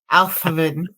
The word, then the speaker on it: Althavan: It sounds like you have a lisp when you're saying Alvin. Althavan. Althavan. I have to stick out my tongue to say that, even close to it.